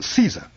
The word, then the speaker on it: Caesar: Now you take Caesar. It's Latin. In Latin it's pronounced like Kaiser, with a hard C, but we anglicize it by pronouncing a soft C.